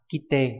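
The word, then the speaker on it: 切って: Yasai nani nani kudasai, đây là chữ thiết, là cắt đúng không, đọc là kite.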